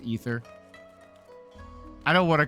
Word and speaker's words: Aether: No, Aether is pronounced Ether.